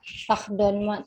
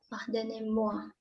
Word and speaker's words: pardonnez-moi: Atau bisa pardon-moi. Tulisannya itu pardonnez-moi. Pardonnez-moi. Bacanya pardon-moi. Pardonnez-moi.